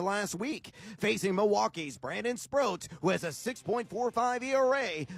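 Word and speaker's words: Sproat: All right, so now I know my fantasy pitcher is Brandon Sprro. It says here rhymes with boat, moat, or note.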